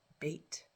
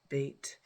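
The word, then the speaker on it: ב: It could be pronounced as a B sound, or it also can be pronounced as a V sound. And the way you know which one you're supposed to be pronouncing is this little dot in the middle. If you see the dot in the middle, then it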